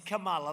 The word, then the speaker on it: Kamala: her name right it's kamala like a comma call mala and yet she pronounces